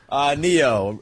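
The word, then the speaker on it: Ne-Yo: Neo. Is that how you say it, Travis? Yep.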